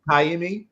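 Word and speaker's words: Ka'imi: it's pronounced he's it is it Kimi okay Kimi is how it's pronounced okay uh well he tooked a walkoff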